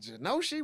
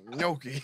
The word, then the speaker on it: gnocchi: But every time I listen, I'm like, is it Genoshi? What is it? It's Gnocchi. Yeah, can I get some of that Genoshi? I don't like these silent letters. What? It don't make no sense, man. Why you put the G there? Yeah, man? I don't know. It should have been NY.